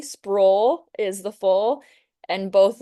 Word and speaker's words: Sproul: Sprawl is the full and both of them get pronounced wrong all the time.